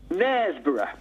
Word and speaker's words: Knaresborough: Knaresborough.